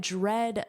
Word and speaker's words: dread: But do you know what dread means? Notice that pronunciation dreaded like bread. Dread.